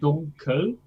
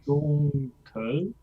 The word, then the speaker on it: dunkel: So actually the difference between dunkel and alles, they're both phonetically speaking the schwa, right? An unaccented neutral vowel. But they're quite different. If I say it really slowly, dunkel, alles. Yeah, they are not the same.